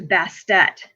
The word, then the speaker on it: Bastet: She gets her name changed to Bastet, so that extra T would be pronounced.